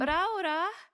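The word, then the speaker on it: Raora: Raura? Raura? What's going on in there? You have to say it like that. That's how you say it.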